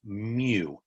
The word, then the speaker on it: mu: x bar is for the sample and that's pronounced mu m u is how you spell it mu